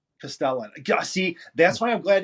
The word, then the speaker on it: Castellan: It's a Castellan. Castellan.